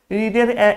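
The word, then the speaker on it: read: যেটা হচ্ছে রিড। রিডের আবার দু নম্বর ফর্ম। ভি টু মানে হচ্ছে ভার্বের দু নম্বর ফর্ম রিডের। সেটি স্পেলিং একই আছে। কিন্তু এর উচ্চারণ। এ বানানটা একই আছে কিন্তু উচ্চারণ আলাদা হবে।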